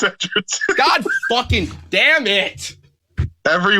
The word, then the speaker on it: Edgerton: It's Edgerton. God fucking damn it. Every week, guys, Chase will mispronounce a name.